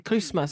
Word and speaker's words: Christmas: anglais, c'est le Christ plus le Mas, mais en fait, on ne prononce pas le T, donc ça fait Christmas.